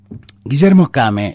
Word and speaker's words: Guillermo Kane: Guillermo Kame es diputado provincial, así se pronuncia, es diputado provincial del